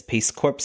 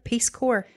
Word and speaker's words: Peace Corps: in love with this peace corpse guy and I was like peace corpse that sounds interesting it it's not pronounced corpse it's core the peace core peace core guy volunteer